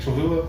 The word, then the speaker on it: Cholula: Cholula?